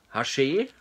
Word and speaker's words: Haché: schon super an hier, von Haché, heißt der Hersteller, so wird er ausgesprochen.